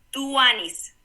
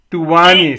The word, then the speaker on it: tuanis: Cómo se dice tuan tuan Cómo se dice tuanis tuanis t u a n y s Ah tuanis